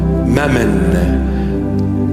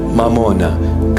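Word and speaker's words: ܡܡܘܢܐ: in our language mamuna Mamon in English they just translated it you know sounding Aramaic almost Aramaic it's not M mamona come I teach you the proper pronunciation mamona money the Lord himself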